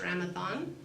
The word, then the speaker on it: Ramadan: so how do we say the first word Ramadan on the D is the way it was spelled in English but not it's pronounced so it's Ramadan as in th and Judy's been trying in